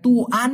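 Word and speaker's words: tuan: টাইপের একজন যদি মানুষ আসে তাহলে আপনি তাকে তুয়ান বলে তুহান বলে করতে পারেন অথবা কোন দোকানের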